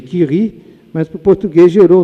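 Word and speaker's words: Curie: Em francês, eh, a pronúncia seria Kiri, mas pro português gerou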